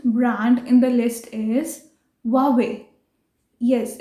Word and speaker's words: Huawei: So the next brand in the list is Huawei. Yes, it's not Huawei, it's Huawei. Although it starts with H, but हम इसको pronounce करेंगे Huawei.